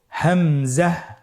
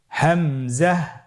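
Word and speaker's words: همزة: হামজা হরফটি উচ্চারণ ক্ষেত্রে বারিক করে উচ্চারণ করতে হবে এবং এখানে টেনে পড়া যাবে না, দ্রুত পড়তে হবে। আপনারা আমার সাথে বলুন হামজা। হামজা।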